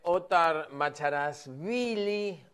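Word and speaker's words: Othar Macharashvili: Bueno, es el intendente Ottar Macharasvili, eh, así se pronuncia, medio difícil, medio difícil.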